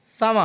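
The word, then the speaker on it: summer: সামা অর্থ গ্রীষ্ম, এটাকে আমরা আগে সামার বলতাম, লাস্টে আর থাকার কারণে আর এর উচ্চারণ হবে না।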